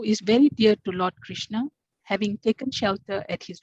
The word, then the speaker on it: Krishna: is called the maha krishna pronounced krishna in rama rhymes with